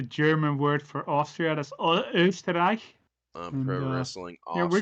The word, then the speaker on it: Österreich: That's Österreich.